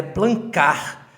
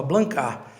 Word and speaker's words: Blancard: nome da realidade é blancar o D no final não é pronunciado é um nome francês e que se pronuncia dessa forma blancar e como meu pai